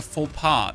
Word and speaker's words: faux pas: A fox pass sounds like a faux pas.